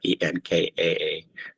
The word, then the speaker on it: Nkare: I spell it more the way it's pronounced, Nkare, which is double A, Enkaare.